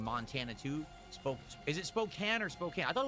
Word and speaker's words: Spokane: Spokane. That's weird. They they spell it with a E at the end because that would make it imply that the A is a full A, but it's not.